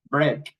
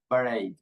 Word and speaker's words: break: In this case, we pronounce these two letters e a like a. So we say break.